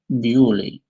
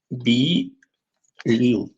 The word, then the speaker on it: Beaulieu: It's in England, but Bewley is a French word. In English we say Bewley, but in French it's Beaulieu, beautiful place.